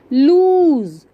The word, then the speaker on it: loose: Now third one इज लूज, LOOSE, लूज. इसका मतलब होता है ढीला, LOOSE, SE लूज, और देखो मैंने इसको लॉन्ग प्रोनाउंस किया ना, लूज, LOOSE, ढीला, and wipes, WIPES, wipes, wipes मतलब पोंछना।